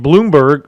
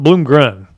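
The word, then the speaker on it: Bloomgren: head coach fired um Mike Bloomberg Bloom green I'm sorry from Bloom Gren I think it's pronounced from Rice that now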